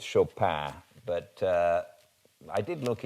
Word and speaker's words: Chopin: the french pronunciation so i'm going with the french pronunciation though she was of course american um it's a it's